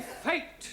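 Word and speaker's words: fête: the rule for example f e t e is also pronounced fate one no one no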